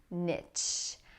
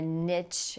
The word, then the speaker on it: niche: Niche. A niche in the market, or what is your niche? Some people say niche, which is the more French pronunciation.